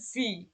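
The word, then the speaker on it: wie: ভি gate S deer, ভি gate S deer মানে হচ্ছে তুমি কেমন আছো। এটা হচ্ছে ইনফর্মাল, যে তুমি কেমন আছো। দেখেন এই যে যখন ইর পরে যখন এ থাকবে তখন তার উচ্চারণ হবে ই।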